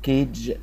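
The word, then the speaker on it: cage: بيك يخبز الكلمه اسمها كيج كيج وبالمناسبه الجي اللي وراها اي دايما كان قبلها حرف دي خدناها قبل كده ان جي اي او اي جي اي بت كانها ايدج ايج فالكلمه اسمها كيج كيج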